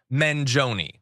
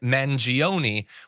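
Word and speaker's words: Mangione: do thank you yes I think most people are pronouncing it mangion which I will say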